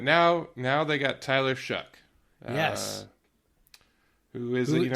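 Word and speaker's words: Shough: do you say his name again shuck Shu Shuck s h o u g h shuck no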